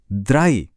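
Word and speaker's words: drei: Number एक है ions. सुन रहे हैं आई आइंस। और ऐसे ही नंबर तीन है द्राई। यहां भी डी आर के बाद फिर से वही आई की आवाज है। तो आइंस द्राई एकदम क्लियर।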